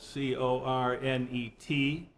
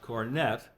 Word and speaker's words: cornet: stop which is spelled c-o-r-n-e-t and which could be pronounced cornet which is how the British do it but it's really a French word so I think it should be given the French pronunciation cornet and what it